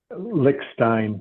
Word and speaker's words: Lichstein: Uh, by the way, uh when I started this, I asked for the proper pronunciation of your last name. Did I get it right? Lickstein.